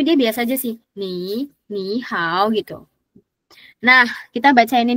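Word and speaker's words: 你好: Selanjutnya emm eh how ni how wait nada pertamanya yang ini berubah jadi nada dua ya bukan jadi keseluruhan ini dibacanya bukan ni how enggak kayak gitu dibacanya naik ni how ni ni.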